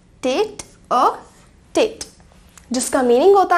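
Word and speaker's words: tête-à-tête: TETE, TETE, और जिसे हम प्रोनाउंस कर सकते हैं एज टेट अ टेट, टेट अ टेट, जिसका मीनिंग होता है आमने सामने, हेड टू हेड या फेस टू फेस।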